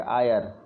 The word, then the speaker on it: Eyre: Lowest point है lake EYRE, lake आयर। Lake आयर lowest point है।